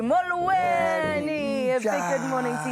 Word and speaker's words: Molweni: Retina City, Molweni. Ninja. And you've got to say it like that too. Molweni.